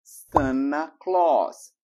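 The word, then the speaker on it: Santa Claus: de final de ano Sant Claus Sant Claus aqui dá duas dicas muito importantes primeiro corta o t e a mais u tem som de ó Sant Claus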